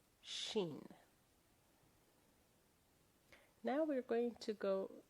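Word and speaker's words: شين: And that is why the name of the letter rhymes with Sin. It is Shin. Shin, the big version and the small version.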